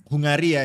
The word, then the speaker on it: Hungary: Jadi Hungaria ya. Tapi bacanya tuh Hungari, Pal. Sumpah. Kemarin Hungary, ya. Hungary ya, iya. Karena Crofty kemarin bacanya itu Hungary.